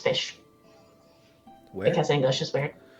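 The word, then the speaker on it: ghoti: Well, it's like cough.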